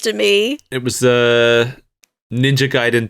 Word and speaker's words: Gaiden: It was Ninja Gaiden 2 and Revenge of Shinobi were the games that they had cheat codes for.